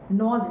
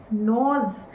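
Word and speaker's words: gnaws: Maybe that person made many plans with you and that nos on nos g n a ws it's not no g is silent nos means keeps on biting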